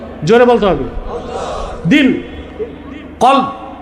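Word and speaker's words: قلب: কলব। আপনারা অনেকে ভুল উচ্চারণ করেন, বলে কালব। কালব মানে কুত্তা। উচ্চারণটা হবে কি? কলব।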